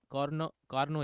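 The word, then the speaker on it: Carnot: कार्नोट engine भी वैसे ही है, जिसको हम लोग कार्नोट ना बोल के कार्नो बोलते हैं, टी साइलेंट है, ठीक है ना।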